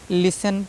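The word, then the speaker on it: listen: पढ़ना है ठीक है यानी टी ई एन टी सी एच एक साथ कहीं भी लिखा है तो उसमें टी हमेशा साइलेंट होता है मख होता है यह आपको अच्छे से ध्यान रखना है ठीक है बिल्कुल भी नहीं भूलना है ठीक है इसको जो है लिसन लिसन पढ़ा जाता है नॉट लिस्टन ठीक है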